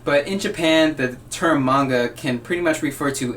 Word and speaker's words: manga: talking about manga and yes that's how you pronounce it manga and it's spelled ma n GA and it